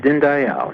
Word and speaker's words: Dinndayal: how are you greetings yes thank you I pronounced your name right is it din Dayal yes din Dayal and I okay you know I really loved